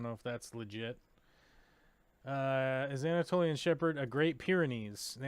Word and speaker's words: Anatolian: The Antiloian Shepherd. I've got to be saying that wrong. Loin. How do you say that? No. Anatolian.